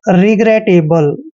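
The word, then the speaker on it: regrettable: A double sorry A बी एल ई इसका उच्चारण करते हैं हम एबल रिग्रेटेबल दोस्तों रिग्रेटेबल क्या होता है देखिए रिग्रेटेबल रिग्रेटेबल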